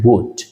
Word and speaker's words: would: Nah, diingat kalau pengucapan would itu L-nya adalah silent, tidak pernah dibaca. Maka jangan dibaca would atau would l-nya diucapkan tidak usah, tapi kita cukup dengan membacanya dengan would.